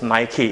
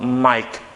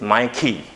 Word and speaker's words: Nike: of that one is nike it's not mike it's my key okay this is how